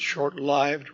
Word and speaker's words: short-lived: By the way, you may notice I pronounce it short-lived rather than lived. I think that should be correct because lived here in this sense derives from the word life with a long I.